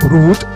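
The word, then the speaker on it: Rouge: แบรนด์ Root นะ ครับ Root อ่า ต้อง ออก เสียง ไง R Root r o u g e Root นะ ครับ ก็ ก็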